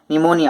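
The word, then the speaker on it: pneumonia: नहीं होगी from her निमोनिया, अपने निमोनिया से रिकवर नहीं होगी। याद रखना बच्चों, जिसने नहीं देखा पहले, फिनोमिया नहीं है, पीस में साइलेंट रहता है, निमोनिया।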